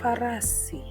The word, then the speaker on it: farasi: So, the next letter within this alphabet is pronounced as Fa. Fa. And the word will be farasi.